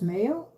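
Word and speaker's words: maille: It is pronounced male, but it's spelled mallie. M-A-I-L-L-E. That is a proper, that's how it is. It's not because we're in England or anything. It's the French terminology.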